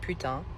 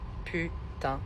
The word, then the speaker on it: putain: Kind of hard to pronounce because we've got the U with our tongue against the bottom teeth, and we've got the which is like a kind of smiling almost and a nasal putain.